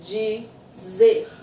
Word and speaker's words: dizer: One is the G. You might be asking, why is Luciana saying G? I have a video, pronunciation of the letter D, and it will answer all these questions. But it's dizer.